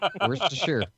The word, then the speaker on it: Worcestershire: Worcestershire. It's sheer.